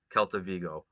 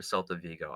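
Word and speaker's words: Celta Vigo: acquired Winger Jonathan bomba from kelta vgo or selta vgo I always say it like my old his history teacher the Kelts the selts right so just today it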